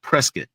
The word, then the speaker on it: Prescott: But it's called Prescuit. It's spelled Prescott because that's what it